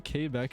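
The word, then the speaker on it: Québec: violent i'm telling you k back is violent all right are they not your buddy pal oh is that how it's actually pronounced quebec it's gay back yeah okay um same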